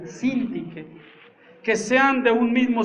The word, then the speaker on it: Síntique: Ruego a Evodia y a Síntique porque lleva tilde en la primera I, Síntique, que sean de un mismo sentir en el Señor.